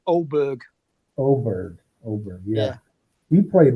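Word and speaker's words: Åberg: with is his name edberg when he Ed edberg when he dropped it in the drink that's it it's an a with a small circle above it so it's pronounced oberg oberg oberg yeah he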